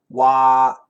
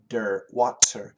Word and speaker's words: water: make it difficult um it's the flap T and the r and this is where American English is really important the r should never touch the tip of the tongue should never touch so basically w a t r is similar to w a w and then d r d w w of course it's not a d it's a flap T